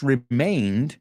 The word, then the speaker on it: remained: And throughout his life, this remained, we know that word, remained, se quedó. It's not pronounced the same as remind.